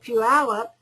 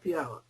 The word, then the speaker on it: Puyallup: And when they got done with the 2 individuals, since they were employees of the city of Puyallup, the IRS went after the city of Puyallup.